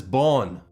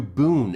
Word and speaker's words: Bön: spiritual system, known as Bön, Bön or Bön in the West, traditionally pronounced closer to Bön in Tibetan, is widely recognized as